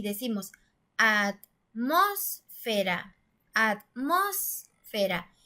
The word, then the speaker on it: atmósfera: decimos a más será atmósfera si se dieron cuenta suena más fuerte en la antepenúltima sílaba es decir en las